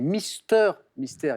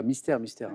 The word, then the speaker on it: Mister Mystère: J'évoquais l'album, je l'ai mal prononcé d'ailleurs, c'est Mister Mystère. Il y a un jeu de mots, c'est pas Mystère, Mystère.